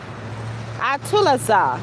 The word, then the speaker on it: atualizar: And in Portuguese, it is Atulazar, and it's spelled ATUALIZAR.